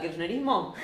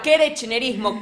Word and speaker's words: kirchnerismo: Sí, cada vez que Burrich diga, de una forma no bien pronunciada, kirchnerismo, bueno, diga kerechnerismo, kernerismo, korochnerismo, kirchnerisme, cualquiera de esas, ustedes meten un mate 750, tranquis, un mate 750.